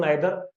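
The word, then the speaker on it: neither: देखो कोई लोग इसको नीदर बोलते हैं, कोई नेदर बोलते हैं। प्रोनाउंसिएशन है हमारे देश में अलग अलग लोगों के लिए अलग होती है। मैं इसको बोलता हूँ नाइदर। पहले मैं इसको नीदर बोलता था, अब मैं इसको नाइदर बोलने लगा।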